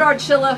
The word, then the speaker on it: Archilla: But you hear it from Archilla that, I feel funny saying that, but Archilla, who sings with Shades of Soul, says the